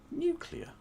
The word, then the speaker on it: nuclear: So, it's uh it's not pronounced the way you pronounced it there. It's pronounced uh new clear. Nuclear. Nuclear. It's pronounced nuclear. It's not that difficult a word to say.